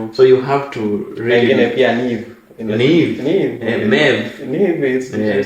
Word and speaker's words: Niamh: Neve is you spell it, and IAMPH.